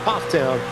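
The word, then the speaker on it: Pfafftown: For those familiar with Northwestern and maybe Central North Carolina, looks like Pathtown is pronounced Pufftown.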